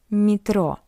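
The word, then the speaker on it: метро: And we can see that after M we have Y. That's why M is soft. Metro. Mro. But yeah is unstressed. That's why we pronounce it as e metro.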